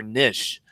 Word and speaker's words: niche: both list several pronunciations you can say Niche nich or Nish so just whichever one sounds